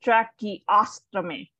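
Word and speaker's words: tracheostomy: tummy all right so you see that little ASP right there you need to pronounce that because otherwise become a different uh procedure so it track the ostomy Chucky out to me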